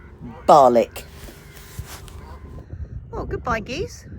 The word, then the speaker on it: Barnoldswick: get myself to the town of Barnoldswick. And you pronounce that Barlick.